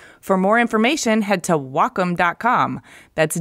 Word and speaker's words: Wacom: no wait Wacom No wellcome no its Wacom pronounced wah like the Japanese word for harmony and come for computer the Wacom Cintiq 16